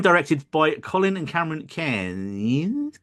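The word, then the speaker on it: Cairns: by Colin and Cameron k k k for some reason right say there's a place in Australia called KH spelled c a r i ns and they'll pronounce it K and whenever I see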